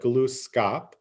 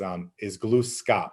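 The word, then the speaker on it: Glooscap: The Mi'kmaq is gluskap. It's the same name, gluskap, just pronounced a little differently in their language.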